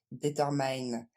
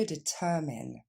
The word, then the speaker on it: determine: un vrai péché mignon vous avez tendance pour traduire déterminé à dire determine et ce n'est que determine qu' va falloir dire on reprend et on le décompose d ta men plus rapidement deten dernière fois deten même chose ici vous